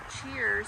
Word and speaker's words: Cheairs: I say Cheers, but I don't know if that's how you pronounce it. It's Cheairs. Okay, and he He brought